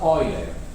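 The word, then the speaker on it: Euler: know how you pronounce pronounce this one in his language was Oiler lot of people call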